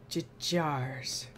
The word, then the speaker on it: Jajarz: Jajarz.